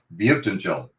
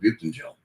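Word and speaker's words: Buyuktuncel: Butentel. I actually phoneticized that and typed it out and put it on the steering wheel of my car, like in June or May. I got it down. Butentel.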